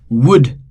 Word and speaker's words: would: again L is silent would again L is silent should again L is silent could again L is silent.